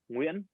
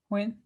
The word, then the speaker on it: Nguyen: Yeah, the N next to the G always like threw me for a loop, and it's like a W sound. It's well to say it correctly is Nguyen. Win.